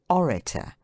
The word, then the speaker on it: orator: Trisyllables ending in ator have the accent placed on the middle syllable, as spectator, narrator, etc., except orator, senator, and a few other words.